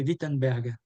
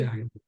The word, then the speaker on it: Wittenberg: Le W se prononce V en allemand. Ah, ok. Donc, c'est Zwingli et c'est Wittenberg.